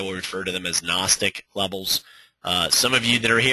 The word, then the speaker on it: gnostic: So he calls these levels gnostic. G is silent. Gnos comes from a Greek word nosis which means knowledge. So it's NOS and then tick is a value that we obviously use in trading.